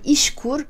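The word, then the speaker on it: İŞKUR: Et le troisième critère est que vous devez aller vous inscrire à l'agence de l'emploi qui s'appelle, je vais le prononcer à la turque, hein, Ishkur.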